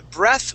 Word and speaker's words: breath: two words okay uh breath without an e at the end that is a short e sound okay short e breath all right uh but if we have an e at the end of the word okay that is a long e okay the word is breathe and that is a verb so breath is a is a noun okay and breathe is the verb to breathe okay breath